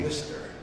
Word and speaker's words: MiSTer: Not Mr. as in addressing a person, but I think it's Mr. as in like if you had a spray bottle. Okay. You're misting something. Oh, I see. Mister, you're misting something.